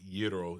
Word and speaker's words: gyro: uh what they they actually pronounce it yro it's a it's a gyro oh in [ __